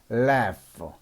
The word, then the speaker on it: laugh: 자, 그 다음에 GH도 똑같이 F 발음이 납니다. GH도 F 발음이 납니다. laugh, 웃다이자 laugh, L-A-G-H, laugh.